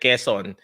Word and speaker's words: Quezon: Quezon City, but we pronounce it Quezon.